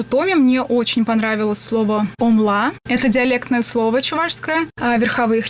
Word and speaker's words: OMLA: Вот, кстати, насчет произношения тоже правильно омла, но как-то закрепилось, и мне самой теперь больше нравится омла, когда ударение на первый слог, и есть такая возможность деления. Это слог ом и ла.